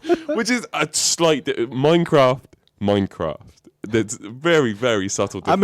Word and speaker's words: Minecraft: And I pronounced it Mindcraft, right? Which is a slight Minecraft. There's very, very subtle difference. I'm impressed that he's like so tuned in that he heard the D.